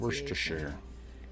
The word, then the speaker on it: Worcestershire: I looked up the proper pronunciation. Worcestershire.